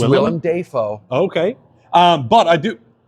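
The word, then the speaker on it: Willem Dafoe: beluchi and we've got William defo who I love will defo I recently found out we've been saying his name wrong it's William Deo okay um but I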